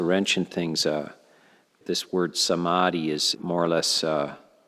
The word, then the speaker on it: Samadhi: in things this word Samadhi is more or less the first syllable is saw which means together and